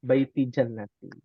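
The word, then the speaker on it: بيتي جنتي: Itu ada perumahan ada tulisannya Baiti Jannati. Apa artinya umat? Rumahku, surgaku. Rumahku surgaku. Masya Allah. Rumahku surgaku. Ya. Jangan sampai bacanya Baiti Nari. Waduh, bahaya tuh. Apa artinya? Rumah Rumah neraka. Rumahku neraka. Waduh.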